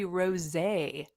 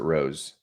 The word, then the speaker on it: rosé: Hey, Chicago and Poppy Raspberry Rosé. What the heck? You just have that on tap, or I don't even know what that is. I'm glad you said rosé because I would have pronounced it rose.